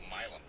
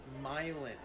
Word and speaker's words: myelin: Human brain mass is made up of a substance called milm is 100% made up of cholesterol. So, it's actually pronounced myelin with an N at the end, not myelin is composed of 80% lipids or fats and 20% protein.